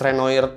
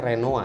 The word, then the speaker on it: Renoir: Di sini gue salut sama AMD atas Renoir 7 nanometer mereka. Gue sebenarnya agak bingung sih, ini pelafalannya itu Renoir atau Renoa, karena katanya Renoa sebenarnya.